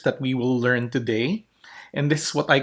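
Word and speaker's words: η: But actually, it sounds like A. A. Okay, that is its sound. A, as in obey. It's a long E sound.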